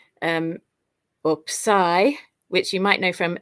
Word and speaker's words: psi: but it's actually pronounced per se like in the word tops at the end of the word tops it's that kind of s sound and finally the last